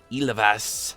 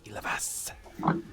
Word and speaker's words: Ilivas: I'm here with the awesome Navi Ilavas. I got to say it correctly. Got to put that accent in there. Ilavas.